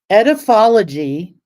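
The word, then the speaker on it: Edaphology: How to pronounce it. Okay. Hold on. Okay, I got it. Okay. Ediphology.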